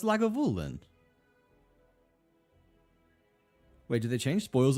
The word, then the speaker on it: Lagavulin: Lagoven? Oh man. Am I saying it wrong? No, it's Lagavulin.